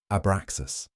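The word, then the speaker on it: Abraxas: Three syllables rising through your body. Ah, beginning in your belly. Brah resonating in your heart. Zas completing in your head.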